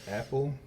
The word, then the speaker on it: Appel: I guess that's Apple. That's how you pronounce his last name.